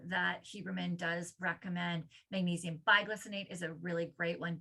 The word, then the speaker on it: bisglycinate: Magnesium biglycinate is a really great one. Bisglycinate, biglycinate, depends on tomato. It's spelled BIS.